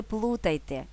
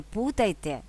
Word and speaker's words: плутайте: за значенням тож не плутайте і наполягаю не не путайте а не плутайте до речі плутати плутати